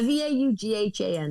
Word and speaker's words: Vaughan: H-A-N, which that made me wonder if it's pronounced Vaughan or Vaughan. I wasn't actually sure. No, it's Vaughan. I was like, I'm not from Canada. I don't know. Yeah, V-A-U-G-H-A-N.